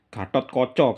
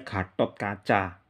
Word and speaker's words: Gatotkaca: kep ah ah Gatotkaca Gatot Koco kalau sastra Jawa Baru bacanya gatotkoco kalau yang sastra Jawa kuno kan yang ini bacanya Gatotkaca Gatotkaca lebih jadi gatotkoco